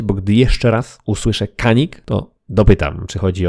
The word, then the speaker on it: Canik: odchodzimy od głównego wątku dla mnie już zawsze będzie to Kanik nawet jeśli turecki minister poprawności stwierdzi że w ichniejszym dialekcie poprawna wymowa to Dziani Ja już się nie ugnę